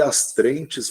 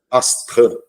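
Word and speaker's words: astreinte: franceses chamam de tã Eu sempre falei as trentes mas daí uma juíza me corrigiu não vem do francês se pronuncia astran né que é a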